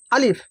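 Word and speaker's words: ا: প্রথম হচ্ছে আলিফ। আলিফ, আলিফের উচ্চারণ, আলিফের মাখরাজ। আলিফ উচ্চারণ হয় মুখের খালি অংশ হইতে। এই যে মুখের খালি অংশ, এই মুখের খালি অংশ হইতে উচ্চারণ হয় আলিফ, আলিফ, আলিফ।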